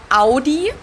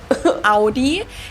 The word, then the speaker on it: Audi: just said it aie in German we say Audi Audi and there's actually a